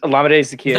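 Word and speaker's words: Olamide Zaccheaus: He's Olamide Zacchaeus.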